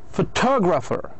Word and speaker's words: photographer: Photographer. Photographer. لحظة الأولى. Photograph. الثانية photographer. وين كان التركيز؟ على الت. photographer.